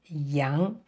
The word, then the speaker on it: 羊: chin and also the beard and it is pronounced Yang so we can see over the years these horns are changed into two dots so with three horizontal lines and a vertical line so it represents Yang the goat Yang and next we have this